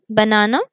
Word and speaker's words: banana: three syllables here so do you pronounce all the syllables same banana no you don't one syllable is stronger which is na so here you will find on this the stress in a now so as we